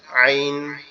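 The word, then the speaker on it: عين: এই যে মাঝের যে জায়গাটা, মাঝের এই যে শক্ত জায়গাটা, এই জায়গার থেকে একটু শক্ত আওয়াজে পড়তে হবে আইন, আইন, আইন, আইন, আইন।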